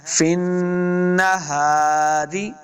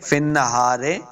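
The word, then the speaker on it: في النهار: کے ساتھ پڑھنا ہے، فن نہاری، رے نہیں پڑھیں گے، فن نہارے، بعض لوگ پڑھتے ہیں فن نہارے، تو یہ غلطی ہے، روزر ری پڑھیں گے، فن نہاری، سبحن، سب، سین کو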